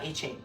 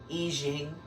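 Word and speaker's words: I Ching: up until then like in when they study Confucious and all that stuff they learned the Eing it's not Eching Eing I think it's pronounced Eing the book of changes it's fascinating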